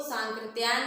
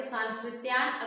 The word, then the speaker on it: सांकृत्यायन: हम क्या करते हैं, इसको सांकृत्यायन न पढ़ के सांस्कृत्यायन अक्सर पढ़ते हैं, तो वैसे ही वो लिख देता है। लेकिन हमें हमेशा शुद्ध उच्चारण करना, ताकि वर्तनी वाला जो क्वेश्चन है हमारा गलत ना हो। तो यहाँ पे क्या है, सांकृत्यायन है, सांकृत्यायन।